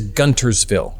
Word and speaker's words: Guntersville: okay this is what's funny so it is gunter's feel right g-u-n-t-e-r-s by the way my phone keeps